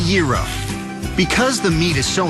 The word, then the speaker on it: gyro: Foods is it the gyro is it the hero nope number 46 is pronounced the era because the meat is